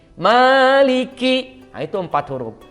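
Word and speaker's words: مالك: Li dan huruf q Maliki Nah itu empat huruf apabila kita membacanya dengan bacaan seperti ini maka itu bacaan yang keliru karena seharusnya Maknya 2 harokat menjadi 5 harokat Nah itu tidak boleh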